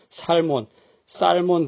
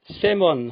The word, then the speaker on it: salmon: 분들만이 있으시면 본론으로 돌아와서 연어 좋아하시는 분들도 살 못 쌀 먼 드신다고 짝퉁 발음 많이 하시고 계시나요 정체모를 한국식 영어 있기 때문이다 여기서도 l 소리는 토막 천해 버리고 새 멈 하면 됩니다 영어 시험이 안빠지고 나오던